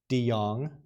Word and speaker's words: De Jong: So the Netherlands has a very, very, very large commercial outfit called, and I was corrected on this, De Jong. It's spelled Dejong.